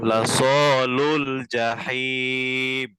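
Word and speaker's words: جحيم: জিমের জিমের উচ্চারণটা কোথা থেকে জানেন? যা জিহ্বার মধ্যখান। মধ্যখানে তালু থেকে জিহ্বার মধ্যখান উপরের তালুর সঙ্গে লাগে। জাহিম জাহিম। জাহিম। হ্যাঁ। জাহিম লাসালুল জাহিম।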